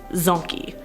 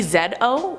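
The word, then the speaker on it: dzo: of chromosomes as I've said before with the Zony but another break from science talk look at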